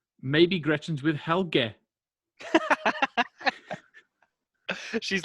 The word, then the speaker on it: Helge: So we pronounce it Helga as if it's Helga, which I think is more of a feminine name, Helga. Yeah. So apparently, I might even get this pronunciation wrong, but the way that they spelt it out for me, I think it's meant to be Helge.